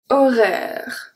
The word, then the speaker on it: horaire: So the A-I make the sound E. Horaire.